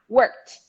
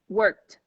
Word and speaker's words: worked: next one work work vibration also t sound worked worked worked worked no e don't worry about over pronouncing that sound please don't just eat it eat it up and the last one